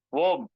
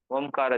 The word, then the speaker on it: ஓம்: என்னன்னு உங்களுக்கு தெரியும் பிரணவம்னா காந்தம் பிரணவ மந்திரம் தெரியுமா ஓம் ஓம் வந்து பிரணவ மந்திரம் சரிதானங்களா அதுக்கு மகரிஷி நிறைய